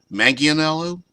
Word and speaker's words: Manganiello: Yeah, Manganiello, I believe, is how it's pronounced, not Manganiello.